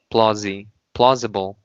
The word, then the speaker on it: plausible: Okay, put the Z on the S. Plausible.